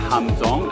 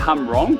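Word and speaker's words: Hàm Rồng: Just arrived at Hamzong. It looked like Hamrong, but it is pronounced Hamzong. I just checked with the lady.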